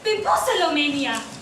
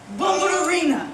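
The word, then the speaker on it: Bombalurina: First yet, you think of that cat, Bimposalomania. How many times do I have to tell you this? Her name is pronounced Bombarina.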